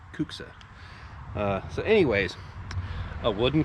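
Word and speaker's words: kuksa: cuxa cuxa a cuxa i think that's how you say it k-u-k-s-a kooksa uh so anyways a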